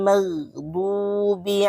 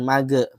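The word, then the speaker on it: مغضوب: magdubi magdubi huruf gh ghin ya itu tidak termasuk huruf qolq qola jadi bacanya jangan mage mag salah nanti bacanya harus lebih halus magh mag jangan mag ada e-nya itu salah salah ya jangan mage tapi magdu du du bi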